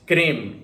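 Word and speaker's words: CRIM: you're likely to see is Kareem which is spelled in all caps c-r-i-m that is an acronym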